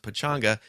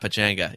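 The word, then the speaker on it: Pechanga: will be at the pichanga casino hey you might notice that I have pronounced that differently than the last couple weeks because I just found out that it's pronounced Pachanga and not Pachanga yeah so I will be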